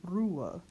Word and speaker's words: Ruhe: Here we have our flipped R, ru. U before an H will be pronounced the closed U, oo. Then we don't pronounce this H in the middle of the word, and we just go right to the schwa. So we get Ruhe.